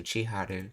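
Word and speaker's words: 千春: This is pronounced as haru. I guess this is chi. So, chiharu cuz this is from spring.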